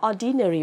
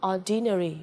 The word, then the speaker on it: ordinary: Cái từ này mình cũng rất hay đọc là ordinary bởi vì đây nó là âm y. Nhá, nhưng đây là phiên âm là âm ơ nhá. Okay. Nên như vậy đừng đọc là ordinary là sai, phải đọc là ordinary.